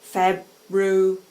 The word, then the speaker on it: February: Word like February, you should say carefully, February. That has 4 syllables as well.